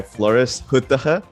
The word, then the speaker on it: Floris: to ecom insider talk today we're joined by flores the pronunciation is perfect bro okay perfect how are